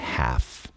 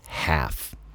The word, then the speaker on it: half: Presta atenção na pronúncia de half. O britânico fala mais half sem falar o L. E o americano, o norte-americano, fala mais have, mais pro e have, mas não pronuncia o l.